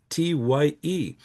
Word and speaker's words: Tighe: In fact, one of our orphan children, Daniel Tighe from County Roscommon, his name is spelled Tighe, but when he inherits the farm from the famille Coulombe in Lotbinière, he becomes Daniel Tighe, Tye.